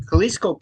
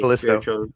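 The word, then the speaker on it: Callisto: Well, I mean, Kaliscoco Protocol is a spiritual successor. One more time. Kaliscoco Protocol is a Kalisto.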